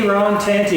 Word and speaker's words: Aaron Tanti: we're going to uh get to know a Aon tanty is that how you say it uh I